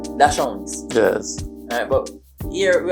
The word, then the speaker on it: Dachshund: Persons say Dachshund for German, and the English pronunciation is Dachshunds.